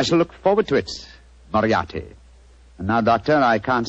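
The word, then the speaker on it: Moriarty: I'll have to begin calling it the way it looks m o r i a r t y mariati mariati I shall remember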